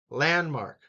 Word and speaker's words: landmark: And that one is the first syllable. Landmark. Attractions.